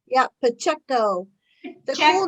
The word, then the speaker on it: Pacheco: Is that how you say it, Pacheco? Yeah, Pacheco.